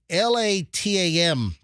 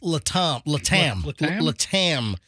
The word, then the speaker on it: LATAM: times this is uh how do you pronounce this Airline it's it's a Chilean Airline it's a South American Airline it's l-a-t-a-m a lot of them I think it's Le Tom if I'm latam and the pilot was